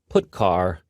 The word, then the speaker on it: putchar: They are pronounced: printf, putchar, and puts.